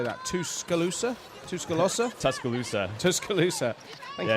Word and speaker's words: Tuscaloosa: Tuscaloosa.